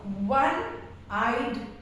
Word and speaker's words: one-eyed: For example, a one-eyed man. Now it starts with O, which is a vowel, but the sound is that of a consonant V.